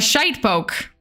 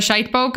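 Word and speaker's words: shitepoke: real name uh a shade poke it's pronounced as shite and poke you can pronounce it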